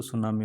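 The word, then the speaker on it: tsunami: ये T silent होता है, इसको सुनामी बोला जाता है।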